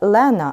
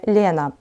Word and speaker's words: Лена: повісті Ольги Кобилянської царівна звати саме Лена а не Лєна закінчення ця у скорочених